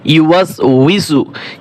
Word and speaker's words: يوسوس: ইউ ওয়াস ওয়াও জের we scene পেশ সু, ইউওয়াসউইসু ইউওয়াসউইসু, আল্লাযী ইউওয়াসউইসু, الذي يوسوس الذي يوسوس আরো কয়েকবার আপনি উচ্চারণ করবেন, একটু কঠিন।